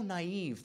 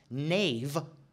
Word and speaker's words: naive: if you don't know if you are so naive that you think it's written it's pronounced nave don't read the book because if you pronounce naive as nave all throughout guess what there is no such thing as find and replace in audio and not only that